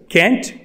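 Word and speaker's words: can't: और कैन नॉट की guys जो शॉर्ट फॉर्म होती है वो 2 तरीके से प्रोनाउंस की जाती है, कैंट और कांट।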